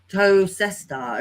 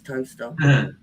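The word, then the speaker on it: Towcester: My nearest town used to be somewhere called Toaster, and I remember having a phone call, and I was on the phone, and they were like, "You live in Tocester?" And I was like, "No, it's Toaster."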